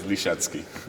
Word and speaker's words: Lisiecki: straight from the source the pronunciation is Reshevsky thank you very much